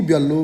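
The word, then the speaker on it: 별로: एकैपल्ट बोल्नु पऱ्यो भने खुगी ब्याल्लो भन्नुपर्छ है त। त्यो ल लगत्तै माथि ल आयो भने दुइटै लको उच्चारण लल गरिन्छ, त्यही भएर फ्याल्लो भएको है त।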